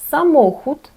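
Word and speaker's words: samochód: Наприклад, самоход. Ми бачимо слово автомобіль самохуд. Три склади самохуд. І на другий з кінця падає наголос.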